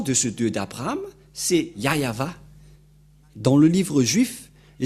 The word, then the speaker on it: Yahvah: Dieu ni y avé mais le nom que Abraham et Moché l'ont appelé c'est très clair c'est yayava voilà donc Abraham le